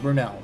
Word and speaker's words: Brunel: Brunel. That's the name. I mispronounced the name like 3 times.